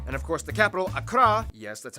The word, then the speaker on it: Accra: waffle and tamale and of course the capital Accra yes that's how you pronounce it Accra located in the southeast along the coast institutional